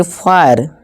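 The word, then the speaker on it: fire: में आ रहा है, तो आई को आई से पढ़ें। जैसे कि इसे फायर, फिर नहीं फायर, इसी तरह वायर, इसी तरह टायर, ठीक है दोस्तों।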